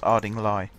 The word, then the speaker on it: Ardingly: but apparently it's pronounced aring Li which makes it sound like you're in the Midlands when you say it like you've just left